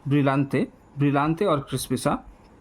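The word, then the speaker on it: Brillante: तो जैसा कि आपको पता है ब्रिलेंट ब्रिलेंटिला और क्रिस्पिसा यहां पर ऑप्शन दिया गया है। मैंने गलत उच्चारण किया ब्रिलंते।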